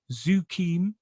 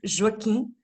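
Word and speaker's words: Joaquim: Zuquim del Almeida. Did I say it right? No, but it was close. It's Joaquin. Shukin. Joaquin. Yeah.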